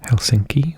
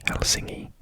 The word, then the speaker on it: Helsinki: And Helsinki, or as it's pronounced in Finnish, Helsinki, is just there.